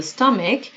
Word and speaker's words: stomach: an upset stomach، an illness in the stomach that ببینید stomach و chش رو که تلفظ کنید، چه نیست.